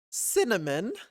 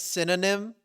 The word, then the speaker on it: cinnamon: kept mispronouncing the word cinnamon I kept mispronouncing the word cinnamon for a long time and I kept saying stuff like I I'd either say like synonym or simonon or something and then I did that